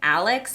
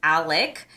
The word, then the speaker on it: Alec: I think I've been saying Alex and his actual name is Alec.